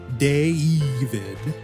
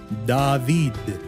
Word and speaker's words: David: so much in Spanish this same name in Spanish would not be pronounced deid imagine the sound in your head with our Spanish vowels remember a a e o u not deid because there are little to know dip thongs in Spanish instead David so in Spanish one vowel one sound David gav tip